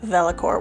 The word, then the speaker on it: Vellichor: some of you are probably asking what is velocor well velacor is spelled v-e-l-l-i-c-h-o-r and it is the pensive Nostalgia